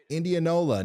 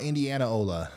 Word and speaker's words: Indianola: am I doing oh Indianola not Indiana Ola my bad I forgot